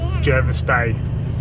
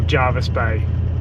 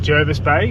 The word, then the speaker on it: Jervis Bay: o old school OG it is pronounced Jervis so anyone from Jervis